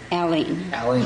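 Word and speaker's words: Aline: Aileen. Mm-hmm. All right. There's a couple ways you can pronounce that, I guess.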